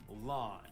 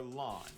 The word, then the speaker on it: Lan: of friendly fire himself, lawn. Fun fact, though lawn means mist in Chinese, it is pronounced the exact same way as the word blue.